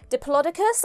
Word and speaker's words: Diplodocus: So Diplodocus, I'm fairly certain, is the American pronunciation.